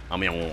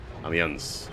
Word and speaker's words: Amiens: Amiens, I think you say it like that. Amiens.